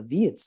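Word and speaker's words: Wits: last couple of years it's a dutch name so the w is pronounced with the v it's vits for shorts and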